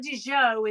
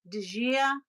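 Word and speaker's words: Acqua di Gioia: It's not Di Gio, it's the female. Di Gia.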